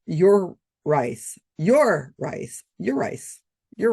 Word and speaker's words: Urice: In one article I found, it said here how here is how to pronounce his name. Pronounced your rice.